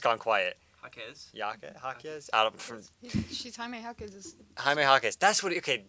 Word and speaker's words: Jaquez: How do I pronounce that? That is a normal name. My brain's just gone quiet. Jaquez? She's Jaime Jaquez.